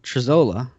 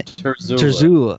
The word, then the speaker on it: Trezzola: But I do know Bob Trezzola. That's how you say his last name. Trezzola? Yeah. Trezzola.